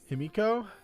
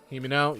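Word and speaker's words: Himeno: I get her name wrong every time I say it. I've called her Hinami. I've called her Himiko. I've called her correctly the name. Himini. Like, that name just gets butchered nonstop.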